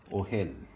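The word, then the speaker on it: אֹהֶל: And for that, I have the word ohel. Ohel. O-hel. It is accented. Let me just erase all these unwanted dots. Okay, so this is the word ohel. Again, accented in the first syllable.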